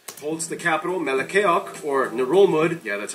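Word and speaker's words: Ngerulmud: ...holds the capital, Melekeok, or Narolmud. Yeah, that's how you pronounce it. That also not how I thought that was pronounced. I've been saying Narolmud for like 2 years now.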